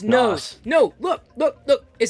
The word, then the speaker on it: NOS: Nose. It's pronounced nose. N-O-S.